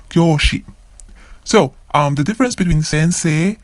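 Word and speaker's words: 教師: Kyoshi. Kyoshi. Again, another long vowel. Kyo. Kyoshi.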